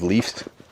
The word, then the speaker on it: leaves: We use the letter V and pronounce it v, plus the S making a Z sound like in zebra. Leaves. One leaf with the F sound with no voice.